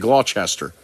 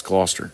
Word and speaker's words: Gloucester: He said Gloucester. And we were just like, oh my God, no, it's Gloucester.